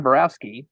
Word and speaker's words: Borowski: very very very excited today to have John Borowski did I pronounce that right John yes awesome a documentary